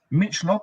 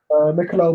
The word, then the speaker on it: Michelob: Michelop, is that how you say it? Michelop, Mich Ultra, whatever you call it. Michelob Ultra.